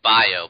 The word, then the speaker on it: Bijou: Bijou bikes no no we we agreed on how to pronounce this word we're pronouncing it bio bikes you know like Bayou Billy I buy you bikes